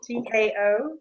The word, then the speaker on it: Tao: I've gotten a new set of cards that are based on the I Ching and the, how do you pronounce it, Sandy? Tao Oracle. T-A-O, Tao Oracle.